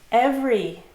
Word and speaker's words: every: Every, every, everywhere, everyone. Good, two syllables. The middle E is silent.